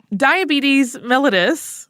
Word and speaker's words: diabetes mellitus: can really lower it diabetes mellitus which you may have heard pronounced a different way I certainly had up to this point but that is correct is a group